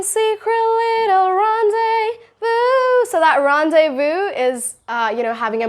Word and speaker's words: rendezvous: Rendezvous. Now, it's a French word, so it's rendezvous. People pronounce it as like rendezvous or like rendezvous.